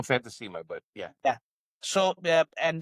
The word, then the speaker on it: Fantasima: Jane, Queen Crab, Fantas Fantasy, forgive me for pronouncing it Yeah. Fantima. We we we call Fantimma, but Yeah.